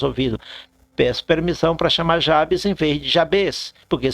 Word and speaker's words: Jabes: se chama chama Jabes eu não gosto de pronunciar esse nome eu gosto de pronunciar em espanhol Jabes como eu conheço o idioma espanhol e em espanhol termina com s Jabes assim Jabes permita me